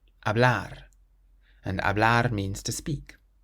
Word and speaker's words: hablar: The same with this next word, it ends in an R, so again we emphasize the end, hablar, hablar.